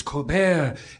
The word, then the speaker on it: Colbert: So I asked him, is it Colbert or Colbert? And he said, oh, it's the French, it's Colbert.